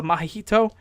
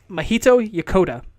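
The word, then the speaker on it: Mahito Yokota: work for a super mario galaxy it's also my hito yep hold on I am a sloppy white American trying to pronounce foreign names it is it is Mohito Yokota Mohito Yokota was the co-composer on Super Mario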